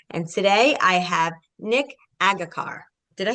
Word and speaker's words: Agharkar: So Agharkar, I got it now, right?